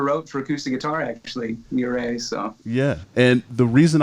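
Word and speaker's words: Ouray: And Practice is Perfect, number 2, 714, number 3, and Ore. Am I saying that right? Ore? Is that the? It's pronounced Ure.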